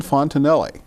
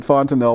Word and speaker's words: Fontenelle: And he tells your viewer This is Fontenelle And I think you probably knew how to pronounce the name Sorry been pronouncing at Fontanel all all you know all night and I've